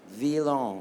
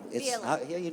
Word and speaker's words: Veilhan: Villon. Villon. He'll tell you how it's spelled.